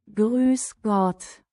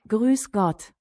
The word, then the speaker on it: Grüß Gott: Grüß Gott. What? Grüß Gott. That's an S. Grüß Gott.